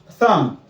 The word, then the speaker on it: thumb: The other words that B's are not pronounced are numb. Like your aunt or something is dead. Numb. Thumb.